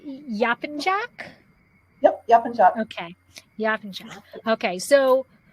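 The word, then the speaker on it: Yapıncak: Is that always the C is always a J? Is that in Turkish language? Yes. The C is always a J sound, unless the C has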